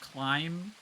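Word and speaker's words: Klim: face Dr Sigma climb it's pronounced climb I love climb my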